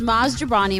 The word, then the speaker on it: Maz Jobrani: i'm dead um my guest this week is mazdabrani am i saying it right nailed it i